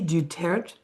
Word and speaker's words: Du Tertre: But Du Tertre, and that is the Americanized pronunciation.